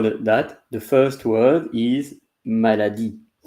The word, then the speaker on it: maladie: The first word is maladie. Maladie. Maladie. And E at the end is not pronouncing.